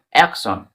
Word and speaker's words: action: যেমন অ্যাকশন, অ্যাকশন বানানটা দিয়ে ফলো করো।